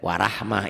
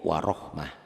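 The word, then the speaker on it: وَرَحْمَة: Tapi jangan kaget tuh kalau Latin warahmah ini dibaca a, padahal ini jadi o, warohmah.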